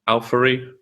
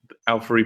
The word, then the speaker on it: Auphorie: So we are talking about "Song of Everlasting Sorrow" from Al-Furry. Al-Furry, I think is how you say it.